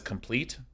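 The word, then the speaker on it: Compleated: devotion by the way if any of you try to get me to pronounce that as complete I'm not doing it right because that that this implies pleated pants right so I'm not gonna ever view this as pleat this is compliat devotion hundred percent one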